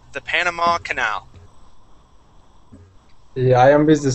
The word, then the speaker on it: canal: second to last line that word is pronounced canal with the accent at the end canaly that Canal excellent